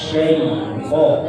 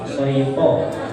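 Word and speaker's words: الشيطان: Ya, seharusnya bacanya itu A'udzu billahi minasy syaithan ya. Syaitan. Tadi yang terdengar syaitan.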